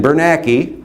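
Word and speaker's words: Bernanke: Ben Bernaki rhymes with wacky is warming up the helicopters.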